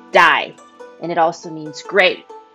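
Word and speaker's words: 大: the surrounding mountains with the character for big which is pronounced die and it also means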